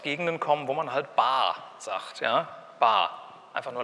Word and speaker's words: Bar: Ich habe die jetzt standardkonform ausgesprochen, also nicht Bar, ich gehe in die Bar, ja, einfach nur langes A, sondern die Bar.